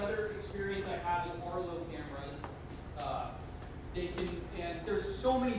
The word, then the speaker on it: Arlo: Yeah, it's Arlo. It's spelled ARLO.